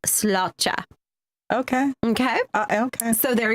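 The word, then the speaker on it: sláinte: s l a i n t but it's pronounced slota okay okay okay so there you go so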